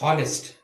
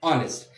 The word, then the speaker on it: honest: we don't pronounce this honest we pronounce this honest so h being silent the the next vowel